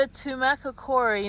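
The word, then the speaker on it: Tumacácori: little town okay I made it to the tumaca Cori National Historical Park that's how to pronounce it so just let you know that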